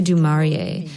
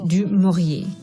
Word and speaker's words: du Maurier: She wouldn't say du Maurier, but du Maurier.